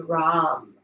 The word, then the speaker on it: Ram: plexus level and the word is ROM are a ram but ROM and that word that